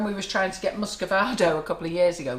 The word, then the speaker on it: muscovado: We use, I don't know the name, Muscovado, is that how you say it? Muscovado, yeah. Oh yeah, the brown sugar.